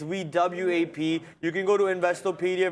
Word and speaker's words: VWAP: just v-wop in question it's spelled vwap the way you have it spelled is V w-o-p that's not the way how you spell it it's wewap you can go to